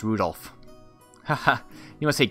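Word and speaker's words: 留弗夫: on it's just anyway this guy's name is pronounced Rudolph ha ha you must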